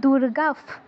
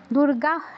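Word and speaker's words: দুর্গাঃ: বিসর্গর জায়গায় ক বা ফ থাকলে পরে ফয় বসন্তর মতো উচ্চারণ হবে। নব দুর্গাফ, দুর্গাহ নয়, দুর্গাফ।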